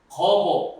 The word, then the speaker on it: 莒父: 이 자하라고 하는 공자의 제자가 거보, 여기서 이제 아비부자지만 지명으로 읽을 땐 보라고 읽어야 됩니다.